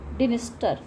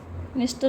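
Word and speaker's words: Dniester: डेन्यू और क्रिव में डिनस्टर निस्टर भी कह सकते हैं इसको डिसाइलेंट है फिर बर्निन बर्निन में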